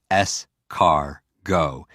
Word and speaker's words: escargot: more s cargo what's escargot it means snail you know that for me i hear scar and i hear go or i hear s car go and it's always about